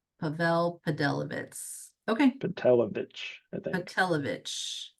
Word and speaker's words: Pavel Pedelowicz: So the W's are like V's. So Pavll Padelivitz. Pavl Podelivitz.